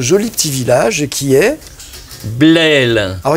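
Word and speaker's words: Blesle: petit village qui est blelle alors il y a un S mais il se prononce pas voilà ça s'écrit blessle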